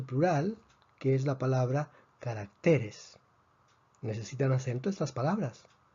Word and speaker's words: carácter: necesitan acento estas palabras la palabra carácter tiene tres sílabas carácter termina en consonante y esta consonante no es ni n s por lo tanto predecimos que la fuerza debería estar en la última sílaba pero está en la penúltima sílaba entonces la a necesita